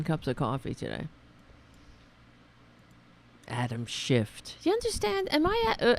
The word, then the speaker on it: Schiff: time mispronouncing the name of the democratic party mispronouncing Adam Schiff Adam Schiff did it shift yeah oh for a second I thought I